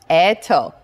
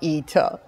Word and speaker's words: Eto: with an e yes my name starts also with e but we pronounce it as eto not ito okay now let's play